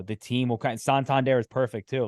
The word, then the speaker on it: Santander: don't even know this Santander guy it's like they're saying his name wrong they're they're doing all that and now those are the guys saying like no no it's Santander and like here's why he's